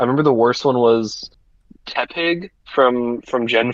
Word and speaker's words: Tepig: Tepig. I mispronounced Tepig as Teptapig.